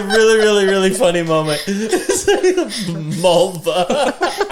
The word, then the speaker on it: Mulva: Mulva. To rhyme with vulva.